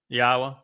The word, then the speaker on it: Yahweh: Have you found any pronunciation for the Y in Yahweh that is different than, like, the sound of the English yes? No. Like Yisrael? No, this is it. Yahweh?